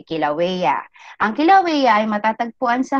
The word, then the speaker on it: Kilauea: Ang bigkas dyan ay Kilauea. Okay, Kilauea.